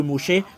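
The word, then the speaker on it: Moshe: mocher euh vous êtes étonné pourquoi vous vous prononcez toujours mocher parce que c'est le vrai nom de mocher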